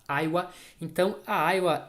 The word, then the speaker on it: Aiwa: Esta empresa aqui, que é uma empresa japonesa, nós aqui no Brasil chamamos de Aiwa, mas lá na Ásia o pessoal costuma falar pelo nome que é pronunciado lá, Aiwa.